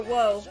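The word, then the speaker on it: を: This is the character for woe, but it is commonly pronounced O in modern Japanese.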